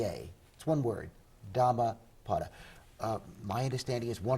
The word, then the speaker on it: Dhammapada: a p a d a that's one word dhamma potter uh my understanding is one of the translations